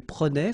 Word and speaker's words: prenait: Je prenais, tu prenais, il prenait, final T not pronounced, so the same form, okay?